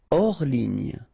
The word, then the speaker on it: hors ligne: Hors ligne, final here not pronounced, so ligne, and then here S is not pronounced, the final one, so hors, and remember H doesn't exist, so hors ligne.